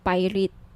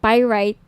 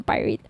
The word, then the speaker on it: pyrite: ng bracelet ito yung pirate p sorry pyrite yung iba pronunciation pirate pyrite Okay 1,980 each may